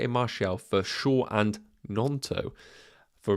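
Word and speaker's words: Gnonto: So it's actually Nonto, G is silent.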